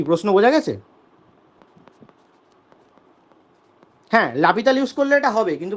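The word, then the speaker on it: L'Hôpital: সেটা ওই এল হপিটাল দিয়ে করতে পারবো। এল হপিটালটা কি জিনিস? লাপিতাল, হ্যাঁ, এরকম কি ধরনের উচ্চারণ হপিতাল, যাই হোক।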